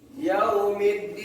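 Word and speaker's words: يوم الدين: Kalau di sini Yaumiddin, jadi alnya melebur ke dalam huruf setelahnya.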